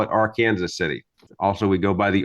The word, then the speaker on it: Arkansas City: operates or works for Owens Bail Bonds in AR Kansas City which most people would pronounce as Arkansas city but in Kansas we prefer to call it R Kansas City also we go by the AR Kansas river